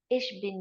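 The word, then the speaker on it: ich bin: ulia and you so how do we pronounce this hello isul unu ish bin Yulia ish bin Yulia means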